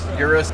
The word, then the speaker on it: Urus: How do you pronounce it? Urus.